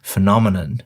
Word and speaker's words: phenomenon: and it is one of the most mispronounced words in the English language. Let's see how I do with it. Phenomenon.